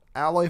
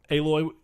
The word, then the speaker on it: Aloy: Nope. Aloy, technically how you say it, but the reason I say that.